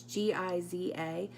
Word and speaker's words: Geyser: white color here and I think it's pronounced geyser it's GI za but it's a really